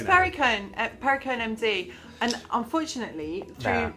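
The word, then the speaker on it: Perricone: Is it paracone? It's pariconee.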